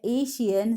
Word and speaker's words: ASEAN: Students confuse हो, तो यहाँ पे देखो ये एशियान है, ठीक है, एशियन मत इसे प्रोनाउंस करो, एशियान, दैट इज ASEAN।